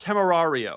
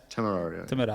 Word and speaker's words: Temerario: And number two, it's pronounced Temerario, right, Filippo? Yeah, Temerario.